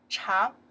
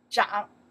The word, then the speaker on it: 长: For example, before we learn this one, this character pronounced the chang means the long. Right now, we pronounce this character zhang.